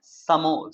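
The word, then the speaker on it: some more: जोड़ के बोलते हैं समोर, समोर, समोर, समोर, समोर, समोर। ठीक है, फास्ट बोलना, समोर नहीं बोलने लगना एकदम पूरा दबा के, समोर। आधा र आपका जो है मुंह में ही रहना चाहिए, तब जा करके आप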